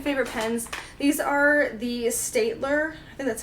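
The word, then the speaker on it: Staedtler: have my second favorite pens these are the state ler and that's how you pronounce it try + fineliners you see a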